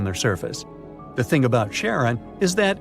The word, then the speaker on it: Charon: and the most mysterious one, Chiron, also pronounced Charon. So you can pronounce it however you like. I'm going to go with Charon.